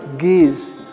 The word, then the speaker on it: Ge'ez: Again, the language, not Amharic, Ge'ez, G-E-E-Z, Ge'ez.